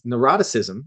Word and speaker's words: neuroticism: It's neuroticism is how you pronounce it.